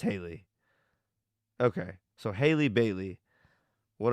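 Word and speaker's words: Halle: chick's name is Haley I wonder if that's how you pronounce it hiy or Haley Bailey is her last name though okay it's Haley okay so Haley Bailey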